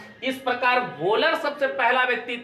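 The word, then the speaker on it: Wöhler: ठीक है, हिंदी में लिखता है वोलर, इसे पढ़ते प्रोनाउंसिएशन क्या है इसका, वोलर है ना।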